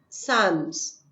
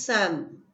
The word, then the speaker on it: Psalms: Students, take the word psalms, Psalms, where P and L is silent. So it is Sam.